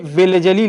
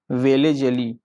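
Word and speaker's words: Wellesley: ये वेलेजली लेकर के आए थे, इनसे पहले डुप्ले लेकर के आए थे, लेकिन अभी जब ये पूछा जाता है तो इसका नाम ये कौन लेकर के आया था, वेलेजली। वेलेजली वेलेजली जो है, वेलेजली जो है वो भारत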